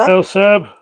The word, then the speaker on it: Elsa: The last one is the correct way to say my name. Elsa.